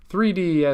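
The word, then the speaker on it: 3DES: about or three des it's abbreviated as three des but it's usually spoken as three des or Triple DES or triple data encryption standard three des is normally how it's said so three D s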